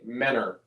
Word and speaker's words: Mentor: I don't pronounce that T. Menor.